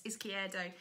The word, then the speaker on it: Izquierdo: It's Izquierdo at Brighton. Well pronounced, by the way.